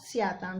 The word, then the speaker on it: स्यात्: उच्चारण पे ध्यान दो, स्यात स्यात, यहाँ त हलंत है, स्यात स्यात, यहाँ है श्याम श्याम, यहाँ म हलंत है, यहाँ म हलंत नहीं है।